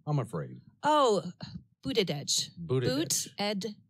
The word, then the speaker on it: Buttigieg: Oh, Buttigieg. Buttigieg. It's okay, it's because different. It looks more like butt something. I know. Yeah, just Buttigieg is his last name.